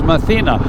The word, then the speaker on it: Mathina: It's Mathina.